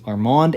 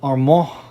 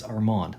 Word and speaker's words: Armand: And it's not pronounced Armand, although you could pronounce it that way. It's better than Armand. So if you ever see me, don't call me Armand. It's Armand, like Armando without the O.